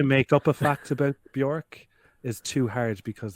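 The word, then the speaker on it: Björk: infested cave in Nassau in the Bahamas and bork is named after a tree uh bork's name means birch tree in Icelandic which is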